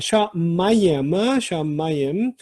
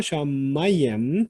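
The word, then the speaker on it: שָׁמַיִם: 자, 샤마이엠. 자, 강세가 여기 있고요. 샤마이엠. 이거는 쌍수 어미가처럼 보이는 게 있어서 쌍수다라고 이렇게 생각들을 많이들 하세요.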